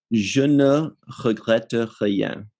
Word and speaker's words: Je ne regrette rien: How do you pronounce the title, Ryan? Je ne regrette rien, which means I don't regret anything.